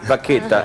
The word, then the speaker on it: Bacchetta: ¿Cómo se pronuncia? Bacchetta. Pero en italiano, ¿eh?